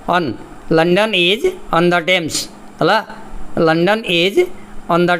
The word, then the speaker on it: Thames: London is on the Thames हला. London is on the Thames. TH हला जोड़ा H पुरेइबो. Okay. THAMES हला एडला तमर बनान ठीक रे लिखि नियो. London is on the Thames. उच्चारण Thames. Okay.